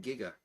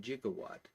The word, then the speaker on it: giga: So resistance is measured in ohms and there would be a giga ohm. And and I all the way going all the way back to to high school learned that that is pronounced giga.